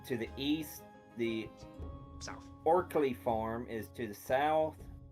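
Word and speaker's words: Orcly: Is it pronounced Osley? Orkley. Or, blah, blah. Orsley. No, Orsley farm. Orkley. O-R-C. Orkley.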